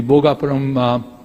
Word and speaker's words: Bhogapuram: And precisely what SAP or the Seletar Aerospark has done, we can do the same thing in the Bhogapuram Aerotropolis, that's how it's rightly pronounced.